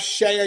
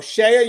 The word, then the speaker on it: CEIA: And we also have Shea USA. Now, guys, that's spelled CEIA. So Shea USA, CEIA, is the world's leading weapons, cell phone, and contraband detection system manufacturer for corrections.